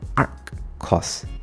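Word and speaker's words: arccos: So this is not pronounced as cos power of minus one. This is called ark cos arc c cos.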